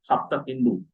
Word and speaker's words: Hapta Hindu: So Sapta Sindhu becomes Hapta Hindu. Hapta and Hindu. So Hindu word basically represent the Sindhu because they cannot pronounce sa properly.